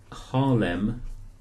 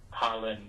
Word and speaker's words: Harlyn: Yep, my first name is Harlyn, it's spelled Harlyn, and my surname is. Hang on. Harlem. Harlyn, yep.